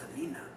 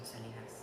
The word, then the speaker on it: Selena: inspirational so I love Selena Selena Selena that's Selena that one not Selina Gomez but Selena I hear a lot of people pronounce her name Selenas Selenas oh yeah okay if you could go